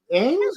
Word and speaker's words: Emmes: Ames, Hello. Ames, M's like Ames, M&M's, like the candy.